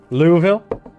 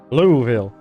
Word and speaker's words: Louisville: Louisville. Oh, okay. I respect this. Louisville. That's how they pronounce it down there.